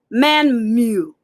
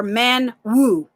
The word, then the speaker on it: Mmanwu: the get on now man mew or man woo i've heard people pronounce it two ways but i'll say men woo for the sake of you know learning and then when you hear someone say it in their dialect is so much more better and they don't say the end for some reason i don't